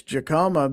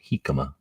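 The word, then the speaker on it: jicama: And the email says, "This Jakama better calm the hell down or it's about to get real." It's pronounced hikama.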